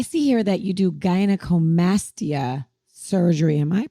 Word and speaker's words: gynecomastia: So speaking of Vic, I see here that you do gynecomastia surgery. Am I pronouncing that right?